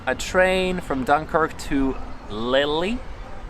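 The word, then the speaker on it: Lille: train from dunkirk to lilly i think it's how it's pronounced lil and from lily to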